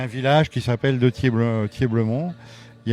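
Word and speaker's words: Thieblemont: Thier-Blemont. Oui. Alors, clairement... Ça s'écrit T-H-I-E-B-L-E-M-O-N-T.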